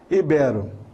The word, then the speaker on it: ibero: pais falam iberoamericano então não fale mais y ibero ibero ibero é aquele que se